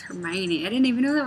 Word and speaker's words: Hermione: He also says Hermione or something, which is how I read it when I first read the books before the movies were out, and I didn't know it was Hermione.